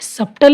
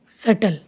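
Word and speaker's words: subtle: अब इसे सप्टल नहीं पढ़ेंगे, सटल।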